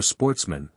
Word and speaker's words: sportsmen: Which were of good family, who were sportsmen, a French word pronounced with the accent on the men.